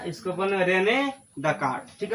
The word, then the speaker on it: Descartes: उस तरह यहाँ पे ये वाला का है एस साइलेंट है, ठीक है ना। इसको बने रेने डेकार्ड, ठीक है।